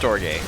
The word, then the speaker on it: Storge: Is it Storge? It's pronounced Storge.